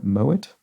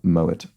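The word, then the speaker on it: Moët: name could be uh Moet not pronounced Moe surprisingly because I think the um co-founder of that house was German possibly so yeah mow it and Shadow I don't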